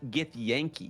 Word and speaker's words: Githyanki: Well, what about Githyanki?